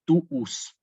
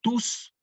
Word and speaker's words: tuus: Quizás ustedes han escuchado hablar de la fórmula de Juan Pablo II, totus tuus. Fíjense que nosotros no decimos totus tus, sino que decimos, o Juan Pablo II decía, totus tuus.